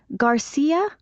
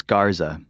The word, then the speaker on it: Garza: Garcia. Actually, it's Garza. How do you spell that?